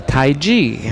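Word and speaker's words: Taiji: Or in Chinese, they say Tai Chi. They spell it T-A-I-J-I, Tai Chi.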